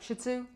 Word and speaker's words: shih tzu: with a bad word they really say it's shitzu well there you go that's what the people say you say it really quick like shih tzu yeah oh that sounds